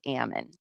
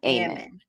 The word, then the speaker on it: Ammon: It's Ammon, not Ammon.